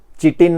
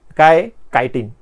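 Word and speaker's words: chitin: and complex sugar called कायन spelling लक्षात घ्या सी एच आय टी आय एन लिहिलय चिटीन नाही ते चायटीन वगैरे नाही म्हणायचं कायन ओके मता प्लांट सेल्स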